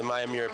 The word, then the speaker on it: Miyamura: A shout out to his wife earlier for helping us confirm our pronunciation of the Miyamura Patriots.